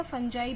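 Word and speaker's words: fungi: Saprophytes की बात करें तो फंगी भी बेटा एक सैप्रोफाइट्स है, जिसे हम एज अ फंगी भी प्रोनाउंस कर सकते हैं और एज अ फंजाई भी प्रोनाउंस कर सकते हैं।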